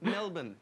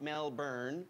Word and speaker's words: Melbourne: shlonker is she schlong melbourne not mel byrne because it's pronounced melbourne melbourne and she only watches